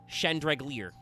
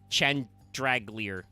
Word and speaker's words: Chandraglier: I personally, I think the hard part is the middle syllable. It's Chan, Drag, Lear, and it's like, okay, how do we get that out there?